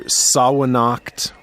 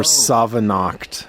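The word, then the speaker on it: Samhain: It's the either Sawanacht or Savanacht. I have heard this argument, yes. Yeah. I'm going to go with Sawanacht.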